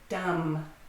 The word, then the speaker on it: dumb: Dumb. Dumb has a silent B at the end.